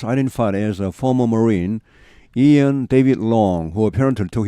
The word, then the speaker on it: Ian: as a former Marine, 전 해병대원으로 Ian David Long, 이언입니다. 발음은 아이언이 아니고 Ian David Long.